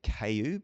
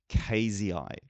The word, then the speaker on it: cayeuxii: is Dombeya cross cayeuxii, and sometimes I have been saying Dombeya cayu because I was told that's how to pronounce it, and I've now been corrected, and I hope now the correct way to say this is Dombeya cross cayeuxii.